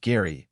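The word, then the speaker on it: Gerry: still a grieving widower Jerry pronounced Gary cried real tears during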